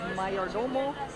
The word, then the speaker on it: Mayordomo: Can't read it now, but it's Mayordomo, kind of like mayor and domo, but you pronounce it like Cinco de Mayo, so Mayordomo.